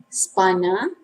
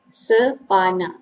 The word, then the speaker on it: spana: And then number 6, spana. In Malay, same formal and informal pronunciation. Spana. Sepana. Spana. We don't say sepana, please bear in mind. We say spana, also for informal pronunciation.